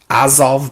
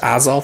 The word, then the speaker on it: Azov: The Azov Battalion?